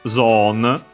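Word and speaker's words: ゾーン: And yeah, simply becomes zone with a long vowel, because of course they don't have zone, they don't have O, it becomes simply long O.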